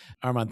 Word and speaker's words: Arman: Arman. Thank you. Yeah, Arman's right. Although my uh two best friends from high school still call me Armen, and I let them get away with it.